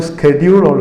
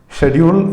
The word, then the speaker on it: schedule: people call it the schedule so that's both pronunciation are correct schedule is British accent and schedule is American pronunciation okay so she said